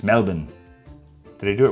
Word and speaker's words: Melbourne: Sylvia from Melbourne, she wanted me to pronounce it the way that Aussies pronounce it. I would usually say say Melbourne, but that's wrong. It's Melbourne.